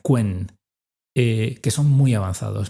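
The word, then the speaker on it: Qwen: que se llama en en inglés se pronuncia quen, eh, que son muy avanzados, ¿no?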